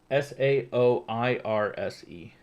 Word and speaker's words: Saoirse: Saoirse? It's spelled like Soar.